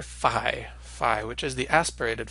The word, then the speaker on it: phi: So it's that pi, that p sound, with an h after it, and originally would have sounded a little bit like p, as in uphill, so you'd hear both sounds distinctly. But nowadays we tend to pronounce it like a letter f, just the way we do a ph in English, and this is the way the modern Greeks pronounce it as well. So it sounds as in phony.